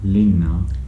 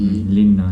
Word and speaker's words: linna: Lina, Linna.